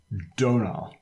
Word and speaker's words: Domhnall: thing that's obvious everybody donal I'm saying that that way because he has a PS in which explains how to pronounce his name and I think it's